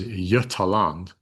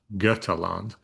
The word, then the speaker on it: Götaland: So this is Götaland, not Götaland, Götaland.